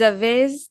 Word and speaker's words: avez: Vous avez des idées pour ces projets? Two things. Just Avez. ave. Yep. Don't pronounce the Z.